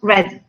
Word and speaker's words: read: Donc read, ça s'écrit comme read, mais on est ici à la forme participe passé, donc ça se prononce read.